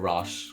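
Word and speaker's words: Raasch: don't know rash rash I'm going to go with rash cuz that's how everyone else pronounces it I've heard so much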